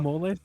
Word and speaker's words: mole: mole sauce?